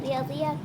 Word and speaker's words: Riyadh: I just kind of call it Riyadh because that's how they say it in Arabic, bro.